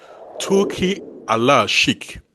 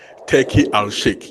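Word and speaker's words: Turki Al-Sheikh: one man from Saudi Arabia known as Ti Allah Shik. Yeah. But as English speakers, we will say Turkey al-Shik.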